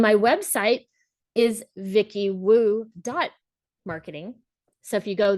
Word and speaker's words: Wu: the way you think it's VI iy for Vicki and Wu for woo Vicky woo marketing and